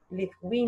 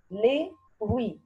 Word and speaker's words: les fruits: Les fruits. Répétez. Les fruits. Les fruits. What is the silent letter here dans les fruits? Bravo. T and the S. T and the S are silent letters.